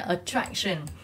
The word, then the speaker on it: attraction: sẽ nhấn âm hai attraction nhấn âm Ha là attraction advantage đó nhiều bạn